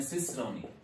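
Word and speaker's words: cicerone: इसकी प्रोनाउंसिएशन पे आप ध्यान रखिएगा, प्रोनाउंसिएशन है सिसरोनी।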